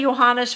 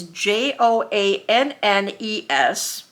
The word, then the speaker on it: Joannes: I want to say Johannes, but there's no H in it. It's Joannes.